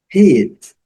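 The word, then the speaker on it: heat: Hit, combinação novamente, hit. O H com som de R, do nosso R, né? Do R de rato, rato, rua, ok?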